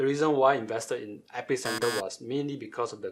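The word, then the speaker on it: EpiCentre: nowhere right so one example is company called epic center sorry it's pronounced at epicenter but this is a company that distribute apple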